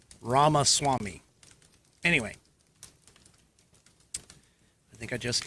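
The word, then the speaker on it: Ramaswamy: it but I can tell you it's ramas Swami so if I werey going to try and fanatically spell it I would say r a m a s w m y ramas Swami anyway I think I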